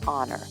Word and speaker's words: honor: For example, we say an hour, an honor, or an air because they all start with a vowel sound since the H is silent.